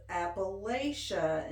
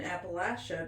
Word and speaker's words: Appalachia: I didn't really notice the switch I did until somebody said that if somebody says Appalachia instead of Appalachia, then you know they're an outsider and they're not from here.